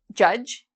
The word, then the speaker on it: judge: about silent D is D is not pronounced in when you see spell d and g together okay um so for example um there's a job judge like judge Duty it's